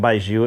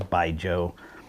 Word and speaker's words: Baijiu: I was calling it Baijiu at first because I thought it was cool to say it that way, but then I Wikipedia'd it, and apparently the correct pronunciation is Baijiu.